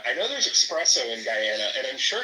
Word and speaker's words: Guyana: like, "Yeah, you know, because my family's from Guyana." And she would literally be like, "It's pronounced Gana.